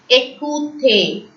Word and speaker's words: écoutez: Écoutez. If you can see E with an acute accent, A. OU in French is pronounced as OU. ER in French is pronounced as A. So, écoutez.